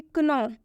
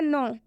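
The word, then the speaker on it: know: उच्चारण कर देते हैं, जैसे कि क्नो, डेप्ट, जो कि इनका बिल्कुल गलत उच्चारण है। अभी हम आपको बताने वाले हैं कि इनका सही उच्चारण क्या होगा। इसका सही उच्चारण होगा नो और इसका सही उच्चारण होगा डेट, क्योंकि नो में के साइलेंट होता है और डेट में बी साइलेंट होता है।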